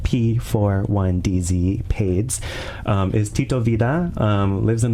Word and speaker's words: P41DZ: And so once Lonnie hops off at 11:30, we're going to have Pades, spelled like P41DZ, Pades, is Tito Vida, lives in the West Coast,